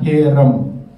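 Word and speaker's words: חרם: bahasa ibraninya nah bahasa ibraninya ini itu bacanya herem herem artinya dihancurkan atau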